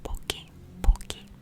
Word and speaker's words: Pocky: It is pronounced poki, not pocky, sorry.